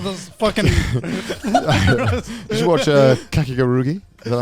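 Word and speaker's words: Kakegurui: Did you watch Kakigarugi? Is that how you No, pronounce I it? did not. Oh, fucking Kakiguru. Kakigarugi. How the fuck you pronounce it? Is that right? Kakeguru.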